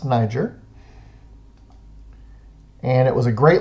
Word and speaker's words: Niger: of the body and Niger rivers it is pronounced Niger and it was a great location for fishing